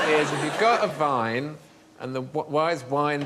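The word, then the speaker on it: Wein: going to say Vine but the German say Vine and spell it with a W ah so why is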